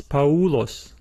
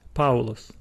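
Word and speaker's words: Παῦλος: letter in the diphthong so we do not pronounce this word as paulos paulos no we still say paulus paulus another good example is the word oinus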